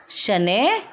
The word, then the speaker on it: शनैः: इसको हम विसर्ग भी कहते हैं और इसका उच्चारण वर्ण के बाद ह की ध्वनि के समान होता है, जैसे नमः, स्वतः, शनैः आदि।